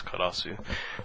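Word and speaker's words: Karous: um karasu uh and the English here looks like karos so I don't really know how you say that well I mean in Japanese it's clear it's karasu um and this is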